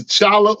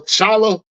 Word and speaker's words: T'Challa: issue number 19 that his name is the Chala or Chala don't say the T the te is silent that's what we got